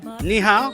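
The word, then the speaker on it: 你好: Ni hao?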